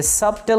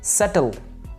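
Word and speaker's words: subtle: ये सबटल नहीं है, बी साइलेंट है, सटल, सटल।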